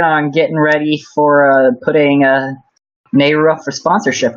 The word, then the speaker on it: Nehru: And one last thing is, to the person who asked, how can I stop saying Naryu instead of Nehru?